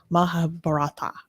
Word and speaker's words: Mahabharata: Mahabharata.